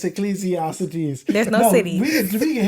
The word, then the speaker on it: Ecclesiastes: It is Ecclesiastes. It's not Ecclesiastes. There's no cities. It's Ecclesiastes.